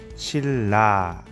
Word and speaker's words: 신라: 자, 예를 들면 신라 같은 경우 그렇죠. 니은이 뭘 만나요? 리을을 만났습니다. 그래서 발음이 실제로는 어떻게 돼요? 신라 이렇게 발음이 됩니다.